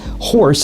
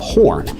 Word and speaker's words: Horne: who during roll call accidentally pronounced his surname as horse instead of horn and the moniker stuck